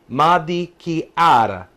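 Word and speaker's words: marechiara: This is how you pronounce it. Maricchiara.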